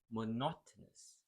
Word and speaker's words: monotonous: monotonous one three and the stress syllable is in the second sound monotonous individual individual so you're